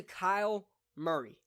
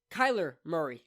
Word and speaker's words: Kyler Murray: they gave it to Kyle Murray Kyler Murray I even said his damn name wrong Kyler Murray why I